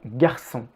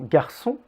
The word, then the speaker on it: garçon: anglais notez aussi comme le r d'un garçon est à peine prononcée et vous pouvez presque le sauter nous y reviendrons plus